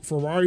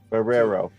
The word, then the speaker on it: Ferrero: All right, so you got the for Ferrari Rocher's good. I know that is not how it's pronounced, but I could not think of the actual pronunciation. Ferrero. Yep. Ferrero. Sound like a car starting.